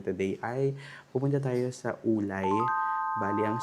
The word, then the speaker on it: Wulai: Ang pronunciation talaga kasi niya ulay pero ang spelling niya isay.